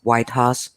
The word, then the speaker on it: Waidhas: under my name and it's pronounced white house every english-speaking people struggle with my last name so no worries here